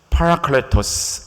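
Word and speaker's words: παράκλητος: 사울에게 부어졌던 임했던 저 여호와의 영, 그 영을 파라클레토스 이렇게 말 발음을 합니다.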